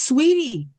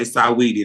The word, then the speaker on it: Saweetie: You saying you dragging the saw too long, honey. Just say Sweetie. I won't say Saweetie no more. All right. So Sweetie.